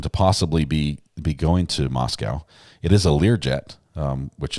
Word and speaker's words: Moscow: Moscow rhymes with Costco.